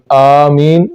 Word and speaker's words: آمین: کو پڑھنا چاہیے۔ آمین، تو اس میں آمین میں بھی جو شروع میں حمزہ آتا ہے، بعض لوگ اس کو الف کہتے ہیں تو اس کو اٹھانا چاہیے، آمین اس طرح پڑھنا چاہیے۔ قل هو اللہ احد